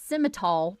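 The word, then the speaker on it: Simmental: Um, so the sim, it's sim, it's siml, but it's spelled simmonl.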